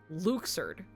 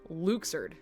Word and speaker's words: Luxord: So, um, so his name is canonically pronounced Luxard and we did we did not know this until Kingdom Hearts 3. Um, because they just so happened Luxard.